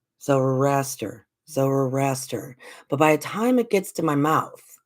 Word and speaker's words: Zoroaster: Zoroaster. Zoroaster. I never pronounce it right, and I don't know why.